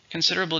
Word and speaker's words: considerable: number three is considerable considerable just means a lot it's an adjective how many syllables considerable five stresses in a second considerable he lost a